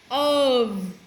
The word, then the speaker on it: of: On exception, I would like to show you the of. Even though the word is spelled F, of with voice V, I know this sounds crazy.